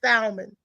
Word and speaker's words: salmon: not supposed to say salmon. Why? How come I Oh, can't say say what salmon? you want. How about just call it some pink fish? You're not supposed to. The L is silent.